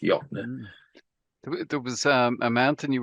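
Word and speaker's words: Jöttnar: Jattenar. Nar. It's Jotner, pronounced Jotner.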